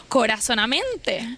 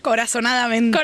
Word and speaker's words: Corazonadamente: ¿Cómo acaba estudiando psicología, emprendiendo y teniendo eventos tan importantes como corazonamente. Corazonadamente, así. Lo digo bien.